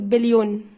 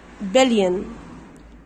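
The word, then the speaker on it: billion: مين العبيط اللي بيقول بليون ده ما اسمش بليون على فكره اسمه بلين بلين من الاي للان على طول بلين الاولى تنطق بلين بلين مليين مليين مليين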